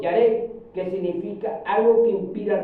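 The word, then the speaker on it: ירא: amén gloria a Dios la palabra temor se pronuncia en hebreo yare que significa algo que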